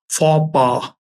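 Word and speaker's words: faux pas: जी A double F ई गफे ठीक है फ पा लिख लीजिए वर्ड फ पा बताता हूं मैं स्पेलिंग लिखिए एफ ए यू एक्स एफ ए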